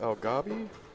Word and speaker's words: Alghabi: often that helps so is it pronounced al gob yes that's how he pronounced it when I asked him he might have just